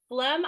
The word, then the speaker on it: phlegm: It thoroughly entertains me, and I'm sure it enrages others because there are so many silent letters in there, but it tickles my fancy.